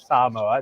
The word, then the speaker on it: Samoa: never been to American s that's how you pronounce it Samoa it's very hard for people here on the